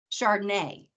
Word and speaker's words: Chardonnay: Champagne, charcuterie, Chardonnay.